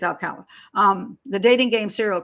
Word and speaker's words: Alcala: which way to okay if it's if it's pronounced spanish it's alcala it's pronounced english it's alkala but i think it's alkaline um the dating game